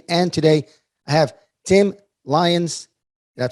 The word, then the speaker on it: Lyons: real estate investing and today i have tim lyons did i pronounce that correctly you did all right perfect